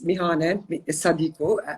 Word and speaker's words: Mihane: to start off with uh my name is mihanen but actually everyone calls me because it's easier to pronounce uh originally i'm from kosovo i'm albanian